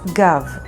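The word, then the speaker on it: גב: Next word is Gav, which means back, and it's spelled with Gimel and Bet.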